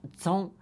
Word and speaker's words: Chung: Oh, in Chinese, your last name comes first, and Chung is pronounced Zong in Chinese, so it's Zong.